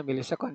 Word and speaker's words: milisekon: Dibacanya milisekon, jangan ms ya.